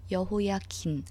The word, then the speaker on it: 여호야긴: 여기서 발음이 좀 비슷한데 여호야김, 미음 받침의 왕이 먼저고요. 여호야긴, 그 다음 니은 받침이 두 번째예요. 여호야김, 여호야긴 이렇게 할 때 여호야김, 김씨 할 때 그 김, 미음 받침 먼저고 여호야긴, 니은 받침이 그 나중이에요.